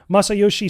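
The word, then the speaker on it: Masayoshi: Masa Masa Yoshi soen yeah that's how you pronounce it Masa Yoshi so he was cooking in the in the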